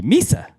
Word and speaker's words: Mesa: would say me say Mesa MH and I heard people pronouncing Mesa Arizona as Misa Arizona yesterday so I was